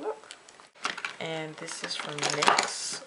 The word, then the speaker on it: NYX: and this is from nyx or x as some people pronounce it and this is the